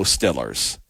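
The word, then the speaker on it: Steelers: Dakota go bison or in Pennsylvania go Stillers and for those Kell Moore fans go Eagles that's how they pronounce it there let's hear the reaction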